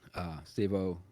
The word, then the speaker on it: Stevo: I'll probably pronounce this wrong. It is Stevo though.